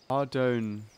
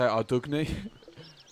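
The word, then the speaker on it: Ardougne: Ardoon. I was going to say Ardugny. We're going to the monastery. I think it's a silent G.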